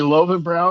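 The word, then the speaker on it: Löwenbräu: totally different ways well it's supposed be loen BR because the W's should be a v br love and BR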